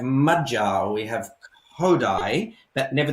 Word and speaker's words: magyar: We all know that the first syllable of every word in Hungarian is accentuated, yeah? So we have magyar, we have Khoury, but never the opposite.